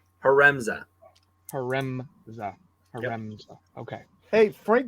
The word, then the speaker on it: Haremza: Haremza.